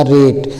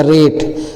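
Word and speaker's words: rate: अब अगले एट में जोड़ेंगे है ना तो आर ए टी ई तो आर से र ए से ए की मात्रा और टी है तो ट हो जाएगा रेट इ साइलेंट हो जाता है।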